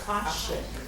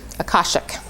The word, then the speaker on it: Akashic: Akashic. Akashic.